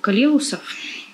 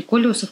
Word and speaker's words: колеусов: В принципе, я не поклонник калеусов. Или колеусов, как они правильно произносятся.